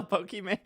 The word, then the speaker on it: Pokimane: No, Pokimane. Her name is Poki. Iman. I think our actual first name is Iman because it's supposed to be Pokemon.